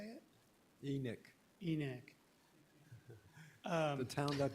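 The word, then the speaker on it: Enoch: minor uh correction Ross the southern Utah people pronounced the town enck you know Carlos corrected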